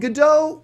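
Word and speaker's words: Gal Gadot: so obviously skinny and or did I say it wrong G gdau right gdau yeah whatever since G gdau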